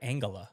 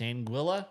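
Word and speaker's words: Anguilla: I've always said like Angala. Nope. It's Anguila.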